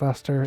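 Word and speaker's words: Leicester: To the nature of I can never pronounce the name right. Lester. I don't like it that it's Lester. It shouldn't be Lester.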